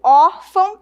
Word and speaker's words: órfão: Perceba que quando eu digo órfão, eu tenho um som aberto, órfão, e um som nasal, né?